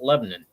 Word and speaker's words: Lebanon: What I'm gonna say is you can tell people that have grown up in Middle Tennessee and in the Wilson County area specifically by them pronouncing it Lebanon. That's how it's been pronounced in this area forever.